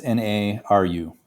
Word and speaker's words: Naru: Naru. Naru. Hold on. I might be saying it wrong, but it's N A R U.